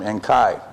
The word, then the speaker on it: Enki: At least Enki, you pronounce him Enkai, right? Oh, right. Are you okay? Okay, I call him Enki.